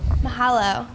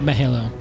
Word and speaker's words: Mahalo: leave it to me you mispronounced Mahalo Mahalo at the beginning you said Millo I have to say